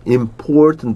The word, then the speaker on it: important: Important 보실게요. Important. Important. Important. 중간에 이 이음절 강조 있는 important. Very important. 이것도 마찬가지 자꾸 끝에 음절에 어가 자꾸 죽는다고 이 소리가.